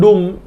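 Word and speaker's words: doom: Next चलते हैं डूम, दुर्भाग्य। वैसे आप देखेंगे इसका प्रोनाउंसिएशन धूम जैसा हो रहा है।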